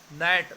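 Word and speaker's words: gnat: Next question देखिए students, ninth, try and make more silent word. नेट, जी एन ए टी, नेट, इसके अलावा और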